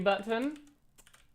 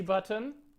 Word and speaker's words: button: Sometimes I like overp pronouncing the word button. Button. Right. It's very satisfying. Button. Button. As far as button, when you kind of swallow it, it doesn't sound as proper, right?